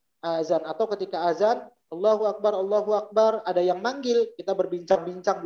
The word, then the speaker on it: Akbar: Jadi Allahu Akbar itu artinya Allah Maha Besar. Tapi kalau ba-nya dipanjangkan, Allahu Akbar, ba-nya panjang, maka artinya Allah itu beduk. Beduk itu bahasa Arabnya Akbar.